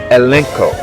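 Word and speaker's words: ἐλέγχω: This word should not be confused with the Greek word pronounced elenko and found by code G1651 in contrast to H1681, which means to refute, to rebuke, expose, correct, or to demand one's explanation.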